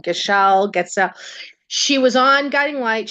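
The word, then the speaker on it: Gatschet: Getsel.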